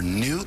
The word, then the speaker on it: Nhu: This is Kaleidoscope, and so we begin right now with Carl Ralston, President and founder of Remember New, that's spelled N-H-U, and Newton, who's a spokesperson for the group Remember New.